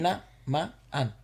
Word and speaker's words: Tinamaan: No, because remember the double vowels are separate. They sound like... Tinamaan.